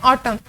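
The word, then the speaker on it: autumn: ऑटम ए यू टी यू एम एन, लेकिन एन जो है हमारे पास प्रोनाउंस नहीं होता, हम इसे पढ़ते हैं ऑटम।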